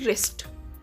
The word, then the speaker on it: wrist: इसको रिस्ट नहीं पढ़ेंगे, इसकी प्रोनाउंसिएशन होती है रिस्ट।